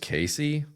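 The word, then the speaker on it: Caissie: Uh, top outfield prospects Owen Case Casey. Casey. Casey. It's just Casey. Just Casey.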